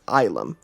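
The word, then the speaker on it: ylem: and the Emperor is, it's spelled Y-L-E-M, and it's pronounced as Ilum.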